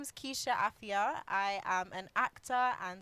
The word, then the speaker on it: Afua: Yes, Keisha Afua. Afua, and but it's spelled A-F-U-A, Afua, because in Ghana the U is pronounced as an I.